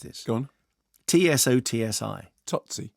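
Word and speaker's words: Tsotsi: is it uh i can't remember how you pronounced this gone t-s-o-t-s-i tootsie totsy there you go that one in class which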